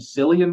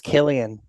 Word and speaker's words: Cillian: Is it how do you pronounce it? Is it Cillian Murphy? How do you pronounce I it? think it's Killian.